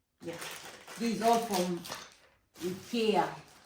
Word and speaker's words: IKEA: English people pronounce it IKEA, But Spanish people pronounce it IKEA. Because they used to, no, they used to say it E. in Spanish, E. so that's why it's IKEA.